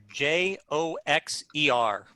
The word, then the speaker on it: Joxer: it's a joke yeah like boxer but with a j why why yeah okay